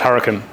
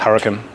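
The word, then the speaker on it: Huracán: go do some recap pronounced huran what it's pronounced hurcan oh really yeah oh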